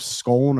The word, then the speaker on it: Scone: of Destiny or the stone of scone or schoon depending on on how you pronounce it which is the which